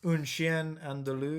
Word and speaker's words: Un Chien Andalou: The pronunciation? Un Chien. You're asking the wrong person. Okay, well that. it's Un Chien Andalou.